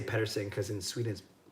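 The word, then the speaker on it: Pettersson: him that mmm and he says alias Peterson Elias Peterson but then we say Patterson cuz in Sweden it's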